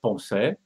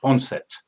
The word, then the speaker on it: Poncet: The French way of pronouncing it is Poncet, but usually in English it gives Poncet.